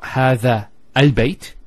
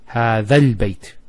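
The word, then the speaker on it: هذا البيت: So it's not hadha al-bayt. You don't pronounce this hamzat al-wasl here. So you go from this alif to this lam. Hadhal bayt.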